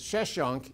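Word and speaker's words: Sheshonq: that's a cue who's usually in english pronounced as sheshunk in this very period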